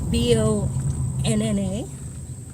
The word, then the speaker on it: Bona: College campus, including the Bona Thompson building, or Bona Thompson. There's still a little bit of discrepancy on exactly how to pronounce the name. It's Bonna.